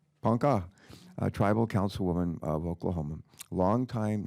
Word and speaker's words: Ponca: A Ponca, do you pronounce it Ponca? Ponca, tribal councilwoman of Oklahoma, longtime native rights activist and environmentalist.